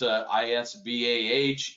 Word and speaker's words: IS-BAH: talking about ISBA, and we already seen the kind of the difference, ISBAH, ISBA. I'm sure there's other pronunciations of it out there in the industry, much like there is for NATA or NATA or so on.